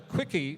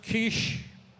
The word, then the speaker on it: quiche: take our order i said i'd like a quickie please well she gave me the dirtiest look